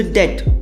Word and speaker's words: debt: So debt, B is silent, that is like a loan.